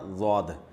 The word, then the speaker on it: ضاد: ضاد جو ہے نا، ضاد یہ زوئیں کے مشابہ ہے، طوا اور ضوا ہوتا ہے نا، اس کے مشابہ ہے، دال کے مشابہ نہیں ہے۔ ضاد پڑھنا بالکل غلط ہے۔